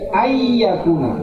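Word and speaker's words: أن يكون: Maka dibaca di sini ayyakuna, nun mati bertemu dengan ya.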